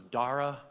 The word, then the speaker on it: Dara: my last name correctly it is dara like sarah um i think in uh in the old country it was dara dara we don't know